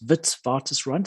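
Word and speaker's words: Witwatersrand: and it's pronounced V it's a Dutch name so it's Vitz vtis rant it means brand of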